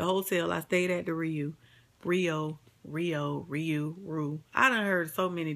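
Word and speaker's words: Riu: The hotel, I stayed at the Rio. I done heard so many different names or how they pronounce this shit. It's spelled R-I-U.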